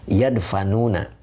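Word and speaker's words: يدفنون: Wayad, apa ini bacanya? Yadfanuna gitu ya. Bentar. Yadfanuna. Nah, dibaca yadfanuna. Apa nih artinya?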